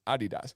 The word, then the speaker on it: Adidas: my boots are Adidas which is how you say Adidas it's Adidas and it's like but